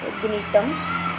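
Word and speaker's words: Gnetum: है, जैसे कि इफेड्रा, ग्नीटम, जी साइलेंट है, एंड वेल्विशिया।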